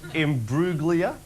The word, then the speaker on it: Imbruglia: And to pronounce it 2 certain names. Rebecca Emiloglu. Now this one, Natalie Imbruglia.